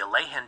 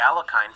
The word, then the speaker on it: Alekhine: to pronounce the Alleen defense or commonly referred to in some circles as the Alakine for ease of reference.